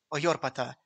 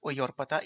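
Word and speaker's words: Οἰόρπατα: If we assume that this word should be pronounced as a medieval or modern Greek word, then the word Oyorpata is actually Iorpata.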